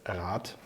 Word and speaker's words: Rad: exactly the same as the German word for council which is a "Rat". The wheel is spelled with a "D" and the "D" comes out when I do the plural "Räder" then it turns them to a "D" and when I have